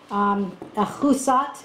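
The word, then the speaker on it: Ahuzzath: And Avimelech comes up with Ahuzah. Now, you can give me an A or an F for the pronunciation. Ahuzat is close to the Hebrew, and Pichol or Fikol,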